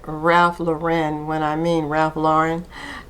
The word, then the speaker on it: Ralph Lauren: So, thank you to the subscriber who informed me that it is pronounced Ralph Lauren and not uh Ralph Ralph Lauren.